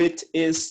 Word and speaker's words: it is: O inglês britânico não pronuncia o T de maneira que nem o americano faz, que é uma coisa mais leve, né? Tipo, it is. O britânico é um pouco mais destacado. It is, ok?